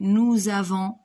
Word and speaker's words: avons: Et aussi le S de avant, on dit nous avons et pas nous avance. Donc ce S n'est pas prononcé.